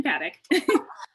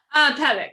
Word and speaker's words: Pabich: Or Close enough, Paddock. Pabich. Okay, sorry. I'm from Germany and the CH is pronounced completely differently. And I forget that in English you replace it with a K sound.